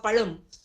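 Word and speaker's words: பழம்: get very upset when somebody doesn't pronounce the LA in banana properly say for example if somebody says Palam instead of palum we get very fussy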